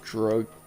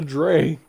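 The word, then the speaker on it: Dreugh: It was just hiding in the dray. I didn't even see that thing. Drug rhymes with grug. Yeah. Dray, drew, drug, drag.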